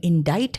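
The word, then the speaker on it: indict: वहां पे आई का प्रोनंसिएशन आई है और सी साइलेंट है। इनाडाइट है।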